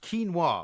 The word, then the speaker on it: quinoa: you know about uh this stuff quinoa it's pronounced quinoa it would be very good for you because